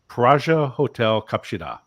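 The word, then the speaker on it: 플라자 호텔 갑시다: So L's become R's and Z's become J's. And so I actually felt that I was kind of mocking the Korean accent, but it was actually, this was truly the right way to say it, was Praja Hotel Kapshida.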